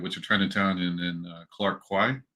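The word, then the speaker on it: Clarke Quay: are Chinatown and then Clark Kwai is that how you say it okay I had a feeling so um Clark key seems like the more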